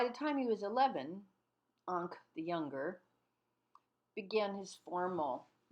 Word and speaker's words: Ingres: It's not Ingres, although someone will know what you mean if you pronounce it thusly, but the pronunciation of Ingres in French is Ingres, as an anchor, Ingres.